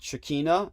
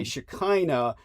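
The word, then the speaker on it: Shekhinah: By the way, uh just to uh clarify, uh Holly uh said Shikina, and that might be a correct pronunciation in some dialects, but probably best to say Shakina just so people don't confuse it with cacina.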